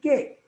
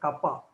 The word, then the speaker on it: kappa: This is nothing but epsilon naught into some k. Into some. Yes, sir. It's not k actually. You should not pronounce it k. You should pronounce it kappa.